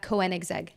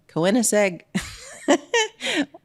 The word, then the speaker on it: Koenigsegg: How do you pronounce it? Koenigsegg. Koenigsegg.